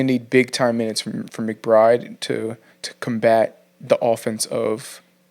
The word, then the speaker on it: McBride: I'm gonna go with McBride.